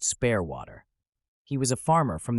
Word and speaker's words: Spaarwater: conversation with this man his name he told me was Spar waterer which he pronounced spare waterer he was a farmer